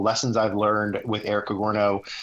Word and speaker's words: Cogorno: And, you know, so the Cogorno Golf, Cogorno, it's pronounced kind of like a DiGiorno pizza, but with a C. Cogorno Golf.